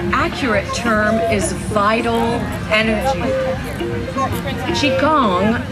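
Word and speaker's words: Qigong: term is vital energy Qi Gong sometimes he pronounced Chaconne is the science of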